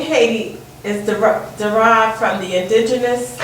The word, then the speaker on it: Haiti: So now that's why we would say Haiti. And you go to any one of the native Haitian speaking people, they say Haiti. They don't say Haiti.